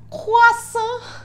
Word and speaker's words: Krasue: Bom, o croissant, que se escreve croissant, mas aparentemente se pronuncia croissant, é uma lenda urbana